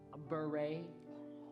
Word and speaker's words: Bure: Cindy, I think it's Norwegian and pronounced beret.